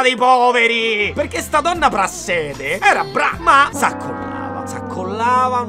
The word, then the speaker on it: Prassede: Finché Lucia non andrà da donna Prasside, che forse si pronuncia Prassede.